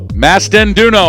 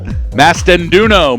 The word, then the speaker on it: Mastanduno: Is that right? Mastanduno. I just got corrected from the timer who knows how to pronounce the name, so thank you very much. Mastanduno. Maria Mastanduno from Brown University. I won't mess it up again.